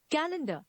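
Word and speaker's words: calendar: athlete athlete now we have you मे be pronounce it कोलेड व्ट it actually is कैलेंडर कैलेंडर the next word is यू मे बी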